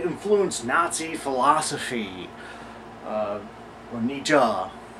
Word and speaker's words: Nietzsche: number two nii influence Nazi philosophy uh or Nija correct pronunciation I typically read The Works of N